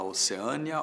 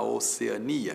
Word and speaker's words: Oceânia: As duas formas existem e você pode dizer que a Austrália fica na Oceânia ou na Oceania. E é claro que a sua escolha vai determinar a grafia. Se você optar por Oceania, nada de acento. Se optar por Oceânia, paroxítona que termina em ditongo, Oceânia, paroxítona termina em ditongo, Oceânia tem acento.